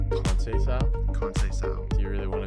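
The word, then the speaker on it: Conceição: Sao. Sao. Sao. It's Brazilian, Portuguese.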